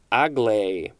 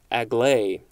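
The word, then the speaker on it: agley: at the word acute a-c-u-t-e next we have aglai a-g-l-e-y this is an adverb from 1785 it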